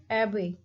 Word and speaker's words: abbey: we can see that we can see here stress is on the first abbey, a b, a and b, abbey.